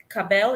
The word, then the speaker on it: Ka'Bel: former member of bardo and now working as cabell is that the right way to say it